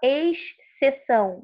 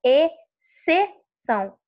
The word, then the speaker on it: exceção: Então, você não fala exceção, você fala exceção. O som do X não sai.